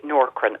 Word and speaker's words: Nourkrin: And the ones that work the best, and I'd say for hormonal thinning, is the Norcrin. And we see good results with this in the shop. It's quite expensive. It's spelled Nourkrin.